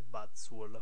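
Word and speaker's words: Buzzwole: Vabbè, si pronuncierebbe Buzzwall, però ok.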